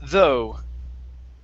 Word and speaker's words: though: have the word though the gh here is silent so instead of saying it's though very nice uh next